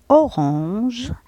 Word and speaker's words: orange: orange à un ça se dit on.